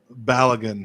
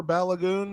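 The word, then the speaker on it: Balogun: pronounced like that but apparently that is the nigerian pronunciation for it so i'm not i'm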